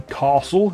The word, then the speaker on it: castle: So if ever you've been wondering what the correct way of pronouncing castle is, then there you go. It rhymes with hassle.